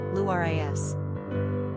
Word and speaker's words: Larissa: Pronunciation, Luris.